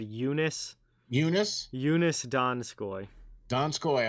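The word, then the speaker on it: Joonas: uh donskoi uh i first name i think is said eunice eunice eunice donskoi don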